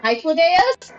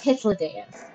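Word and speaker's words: Hythlodaeus: name was ever boy so I was calling him hos no it's hitos how was I supposed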